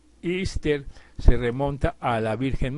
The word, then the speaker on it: Easter: Pascua de resurrección y que se pronuncia ister se remonta a la